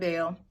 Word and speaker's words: Baal: I'm sorry, you pronounced his name wrong. She worshipped Baal.